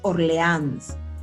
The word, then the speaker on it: Orleans: los ejemplos acá tenemos una palabra aguda que es Orleans porque la mayor fuerza de voz está en la última sílaba además esta palabra aguda